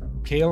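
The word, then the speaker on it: Cael: Yep, I said it wrong. It's a sail hammer. Kale hammer, not the cull hammer.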